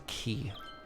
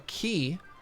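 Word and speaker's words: quai: So a key is, it's like on the side of a canal. It's like a large barrier used to hold water back, like a flood wall, flood barrier. Yeah, it's spelled Q-U-A-I, if you're interested in Googling it.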